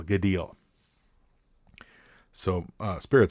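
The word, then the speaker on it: Gaidhel: the I'll mispronounce this gel G gel g a i d h e l gal so uh spirit says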